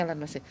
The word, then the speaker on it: Elon Musk: Ini bacanya Elon Musk ya.